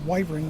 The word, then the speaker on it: wyvern: and that's why it's you call it wyvern because in Latin the Y is an i sound long I okay it's a consonant then long or than a y it's a long I but I'm not a